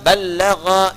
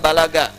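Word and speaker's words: بلغ: Dari kata balagha yuballighu. Ya. Balagha dibacanya, bukan bahasa Sunda balaga, ya.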